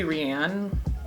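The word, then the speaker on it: Ryann: At least I think it's Ryan. I've been pronouncing it Ryan. It's spelled R-Y-A-N-N, so it could be Rianne.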